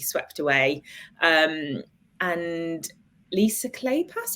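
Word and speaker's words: Kleypas: away um and Lisa clay pass whose surname I'm never sure how to pronounce but I think it's clay pass um has a series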